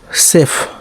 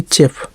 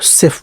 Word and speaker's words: chef: CHIF सेफ, ठीक, ना कि चेफ, चेफ नहीं गलत है वो, CHEF सेफ पढ़ा जाता है, ठीक है।